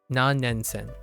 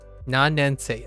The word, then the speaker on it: 何年生: Nannensen. 何年生 Nannensei. Oh, I keep saying sen. Nannensei.